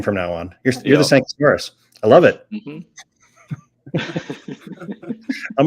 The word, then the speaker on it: Sankauskas: Sankauskas. You did great. Luckily, it's pronounced exactly how it's written.